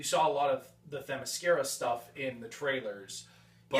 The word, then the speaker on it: Themyscira: There is one action scene on the beaches of Themyscira. Did I pronounce that right?